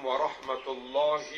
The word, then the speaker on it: warahmatullahi: jangan Asalamualaikum enggak asalamualaikum warahmatullahi wabarakatuh warahmatullahi itu pendek nah beberapa penceramah bacanya warahmat nah mohonang kita nanti mengucap salam ucapkan dengan benar asalamualaikum warahmatullahi